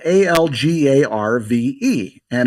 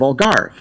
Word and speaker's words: Algarve: Well, it's spelled A L G A R V and it's a Latinbased word. So, I think it's got an uh an e sound or an on the end. So, I pronounced it algarva. Oh, and instead of Algarve.